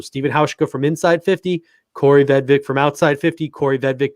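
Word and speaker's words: Kaare Vedvik: Spelled Kari, pronounced Corey Vedvik.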